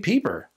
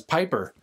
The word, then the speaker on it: Peeper: shots came from rj peeper i've been mispronouncing rj's last name for two years as piper now that i got